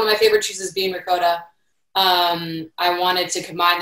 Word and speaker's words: ricotta: i always or ricotta i always say ricotta wrong it's ricotta ricotta um i think i say it wrong in english and italian but um i wanted